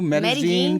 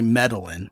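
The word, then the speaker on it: Medellín: understand oh yeah because the Double L is a z instead of a y and they really kind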